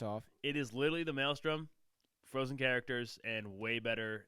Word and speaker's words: Maelstrom: before our honorable mentions is the mal storm I don't always pronounce it wrong that's that's the white the white male in me I'm not saying anything Maelstrom Maelstrom okay so this ran from